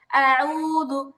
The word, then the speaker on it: أعوذ: আউযু আউযু আউযু আউযু, বলেন তো। أعوذ আচ্ছা, এবার হচ্ছে আবার পড়তে গিয়ে উ এরকম হামজার মতো উচ্চারণ হবে না। আইনটা মানে হামজার পরে সঙ্গে সঙ্গে আইন আসছে।